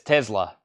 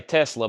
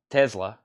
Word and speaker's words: Tesla: or Tesla Elon Musk says Tesla he puts the z sound in there I used to say Tesla but when I heard him say Tesla I started calling it there because obviously he knows how to say it I mean he owns